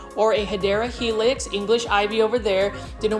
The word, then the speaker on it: Hedera helix: You can see that there was a Hydra Helix or a Hedera Helix, English ivy over there.